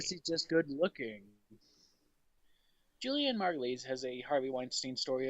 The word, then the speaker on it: Margulies: also in the news julianna margulies of margulies i believe is how you say her name of The Good Wife